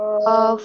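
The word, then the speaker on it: كاف: কফ কফ কফ কফ না, কাফ, কাফ। আকার হবে কাফ।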